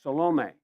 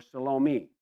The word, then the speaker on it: Salome: Matthew and Mark's list had Mary, and then named Salome, or Salome. They pronounce it either way.